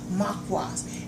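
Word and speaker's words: mukwas: All you have to do is Google it, and it's right there, and it's spelled M-U-K-W-A-S, Makwas, and it's all herbs.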